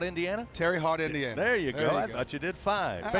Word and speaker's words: Terre Haute: one Regional side how do you say that Terre Haute Indiana Terry hot Indiana there you go I thought you did